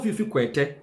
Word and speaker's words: Fiifi: hardworking vice president indeed honorable fif sorry honorable fif that is the correct pronunciation of his name should humble himself and